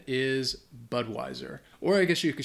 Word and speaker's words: Budweiser: all over the world uh but the correct pronunciation is Budweiser or I guess you could shorten it and